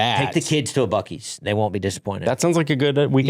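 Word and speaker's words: Buc-ee's: Yes, correct pronunciation, too. I I have never I've never been to a Bies.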